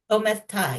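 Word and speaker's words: omertà: book were certain things that I hadn't come across before that I found fascinating, like now, am I pronouncing this right? Omerta. Omerta, yes, Omerta.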